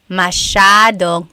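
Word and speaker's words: masyadong: Mashadong means a lot. So the s ya is a sha sound.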